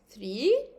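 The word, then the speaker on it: trois: Then 3, OI in French is always wa, and we have a silent S.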